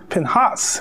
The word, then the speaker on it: Pinhas: I like Pinkus but it's not Pinkus in Hebrew it's pin Haas pinhas and the accent is on the second syllable it didn't really have